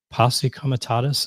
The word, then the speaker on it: Posse Comitatus: We've had some judge ruling that this violated when in Los Angeles, the Posse Comitatus, is that the right way to say that?